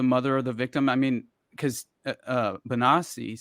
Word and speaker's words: Bonacci: Didn't Paul Bonacci, and is it Bonacci or Bonacci? Do you know exactly? Bonacci. Okay. That means I've been mispronouncing it.